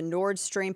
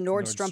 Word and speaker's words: Nord Stream: The Nord Stream pipeline instead of, or the Nordstrom pipeline.